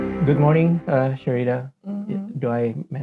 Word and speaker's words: Syreeta: Sharita. Okay. I'm from Indonesia, so it's a common name, but it's a different Is it? spelling. Yeah, we Hmm. call it Sarita, Sarita, That's Sarita. how you pronounce it, Oh, Sarita.